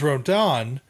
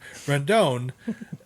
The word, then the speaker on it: Rendon: piece they have is rodon who hasn't played at all he's constantly hurt rendon redone yeah there are other i always say that name wrong rendon they always like and